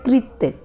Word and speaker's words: कृत: यहाँ पर री की मात्रा है, रे की नहीं है, ध्यान से इसका उच्चारण करें, इसे बोला जाता है कृत, ये री की मात्रा है।